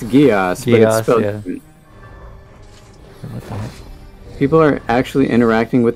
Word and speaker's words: Geass: oh dark geass where's it gesh i don't know how it's pronounced i remember liking the anime it's it's geass people are actually interacting